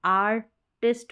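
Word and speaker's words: artist: टाइ पढ़ दिया क्योंकि आई का उच्चारण ई भी होता है आई भी रहता है लेकिन यहां पर हम ई पढ़ेंगे टेस्ट करके टाइट नहीं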